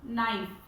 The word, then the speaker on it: knife: Next example, knife. KNIFE. Please keep this, remember that knife K is silent.